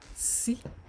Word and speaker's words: sí: The next one, sí. This is your S in Yoruba, in English, but it's pronounced sí, as if you are pronouncing alphabet C in Yoruba, in English rather.